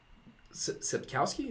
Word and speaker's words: Sapkowski: Sapkowski, is that how it's pronounced?